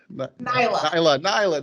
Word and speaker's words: Nailah: be uh knight i just lost how to pronounce it naila nyla there we go and i just practice it so can you can you introduce yourself to uh to us sure my name is nyla and i am a life and leadership